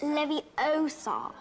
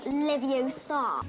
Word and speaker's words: Leviosa: so Besides, you're saying it wrong. It's Leviosa, not Leviosa.